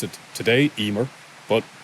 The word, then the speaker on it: Emer: we pronounce it today Emer but the m is pronounced like a v in the middle of a word so it's heavier or